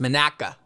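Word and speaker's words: Monaca: in Sharon Pennsylvania Sharon Pennsylvania and it's not Monica it's pronounced Manaka Manaka Pennsylvania so those are where I'm at oh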